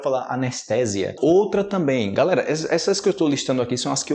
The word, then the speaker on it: anestesia: mas a pronúncia diferente você falar em português anestezia tá errado ok nenhum Brasileiro anestesia outra também galera essas